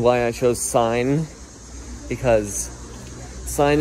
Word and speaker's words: sine: i chose sine because sine is a trigonometric function that rhymes with pine it means a lot